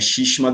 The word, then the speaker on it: Shishima: Ou você pode encontrar em alguns lugares também como Shisma, mas aí a pronúncia é mais ou menos a mesma. É Shishima do mesmo jeito, porque na África você